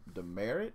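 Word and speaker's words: Demeritte: Braxton Ashcraft me dumb demerit really really Paul that's how you say it like the old school like you get a mark on your name you get a demerit I like dimmer I'd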